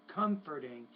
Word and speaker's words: comforting: When you use the word comforting, stress on the first syllable.